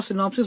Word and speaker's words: synopses: alumni और alumnus था, तो सिनॉप्सिस और सिनॉप्सिस बोलने में एक जैसे है, सिंगुलर और प्लूरल में,